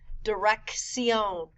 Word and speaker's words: dirección: A double C has two sounds. The first C sounds like a K. The second C sounds like an S. Dirección, atracción.